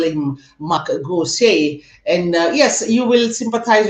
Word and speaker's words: Gosse: Yes, tell us your name, how you pronounce it. Okay. So my name is Gosse Mhm.